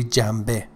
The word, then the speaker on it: جنبه: Pay attention to the pronunciation of this, the first word جنبه, in conversational or connected speech, we ne changes to me, say jambe, you know, like shanbe, but in connected speech and fast speech, we say shambe.